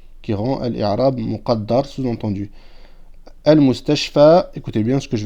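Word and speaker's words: المستشفى: Normalement, on devrait dire al-mustashfa ou, mais c'est trop difficile à prononcer. C'est pour ça qu'on le sous-entend et qu'on ne le prononce pas sur la alif al-maqsoura.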